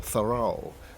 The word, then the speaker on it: Thoreau: Today is the anniversary of the birth in 1817 of Henry David Thoreau, or Thoreau as the Americans would pronounce it.